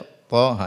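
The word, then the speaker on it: طه: Yas dibaca apa Yasin Thaha Jangan dibaca thah tapi dibaca th ha jadi bacanya per per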